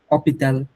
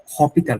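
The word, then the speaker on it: hôpital: মায় থাকবে অপিল্যা অপিতাল অসপিতাল ওতেল হপিতাল না অপিতাল ফ্রেঞ্চে এইচ নাই এই ওয়ার্ডটাই কাইন্ড অফ নাইন বলতে গেলে লেটারটাই নাই অপিতাল ওতে মানে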